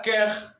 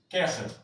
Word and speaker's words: quer: La palabra quer su pronunciación va a ser quer. Fíjese la R final. Vamos a intentar introducir este sonido de una H, este sonido gutural.